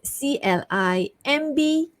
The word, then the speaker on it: climb: So the first word is CLIMB, silent B, climb.